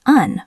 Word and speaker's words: and: We almost always drop the D. Remember our first rule, elision. And then we turn the vowel into awah. So and becomes un or just n.